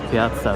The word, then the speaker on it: Piazza: Daha doğrusu Piazza Verdi. İki tane Z yan yana gelince diye okunuyor.